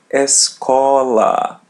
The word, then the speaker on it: escola: it as e and there's a letter l in the middle we pronounce it as English l escola escola notice that there